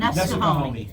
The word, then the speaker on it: Nesquehoning: I never could pronounce that station right. The W. Wissamungi? Wissahoning. The Wissahoning station? Nesquehoning? Nesquehoning.